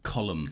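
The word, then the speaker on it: Colm: it's written col but that's an Irish name and I believe it's pronounced colum colum yeah colum macari the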